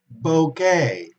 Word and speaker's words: bouquet: For example, bouquet, okay, ramo de flores. A bouquet is un ramo de flores. Okay, it comes from French, and therefore we pronounce A.